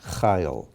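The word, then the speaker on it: חיל: Yeled, Yachid, Tameh, Chayil, and that's another one with the accent on the first letter, Chayil.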